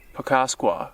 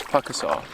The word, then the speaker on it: Pukaskwa: I'm in Pukaskwa, which on a map, it looks like it's pronounced Pukaskwa, I believe. If I'm remembering correctly how I used to mispronounce it. But it is Pukaskwa.